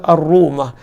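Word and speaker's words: رومة: Telaga uthman ataupun Telaga ar-rumah kata penulis buku Telaga ini dikenali sebagai Telaga ar-rumah ar-rumah ejaan dia alif lam ro wau mim dengan marbutah arrumah arrumah ni bukanlah rumah macam rumah kita tidak namanya dalam bahasa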